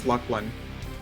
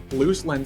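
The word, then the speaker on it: Luclin: Just how you pronounce it, Lucklin just rolls off better off the tongue. Yeah, it's just easier for me. Loose Lynn sounds like I'm talking about a chick named Lynn who's loose. That's what I think.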